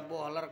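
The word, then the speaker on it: Böhler: lagi Hai masih tajam ini bacanya bukan Veer ya ini baja boler k110 kalau orang biasanya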